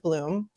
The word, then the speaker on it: Blum: his name is Howard Bloom but it's spelled Blum b-l-u-m but he pronounces it Bloom he wrote for Vanity